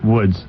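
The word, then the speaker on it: Łódź: Oh, another thing that he did was that Lods, I thought that it was pronounced Woods, or something like that. Well, I don't think we ever got the correct definition or pronunciation. I'm giving you the correct pronunciation. Aren't you listening to me? I'm saying it on the radio. Damn it. Are you positive that it's Woods? Of course. Don't you hear me say it? Well, I do, but that doesn't mean it's right.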